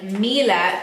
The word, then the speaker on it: Miele: Right, so let me just talk to you about Triflex over here, because this is the first Miele, and I say Miele, and that is how you pronounce it, by the way, for anyone thinking that I'm saying it weird, that is how you pronounce it.